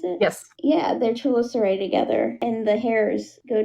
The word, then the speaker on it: chelicerae: Is that how you pronounce it? Yes. Yeah, their chelicerae together, and the hairs go together, and it makes like a hissing sound.